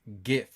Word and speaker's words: GIF: to me you know it's pronounced GIF with a hard G it's all quite a